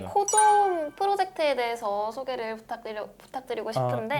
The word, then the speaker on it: COZOM: 그의 일환으로 일단은 먼저 코좀이라고 읽으면 되나요? 네, 맞습니다. 네, 코좀 프로젝트에 대서 소개를 부탁드리고 싶은데 네네.